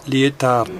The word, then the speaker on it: Lietaer: Así se escribe y se pronuncia Lietaer.